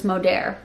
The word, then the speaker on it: Modere: Everyone has figured out it's Modere. A company rhyming with Rodaire is now paying salaries.